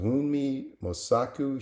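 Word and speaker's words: Wunmi Mosaku: Uh, I don't know how to pronounce her name, but I think it's pronounced Wii Mosaku.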